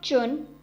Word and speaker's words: zhun: The next Pinyin is ZHUN, has a pronunciation of chun, chun.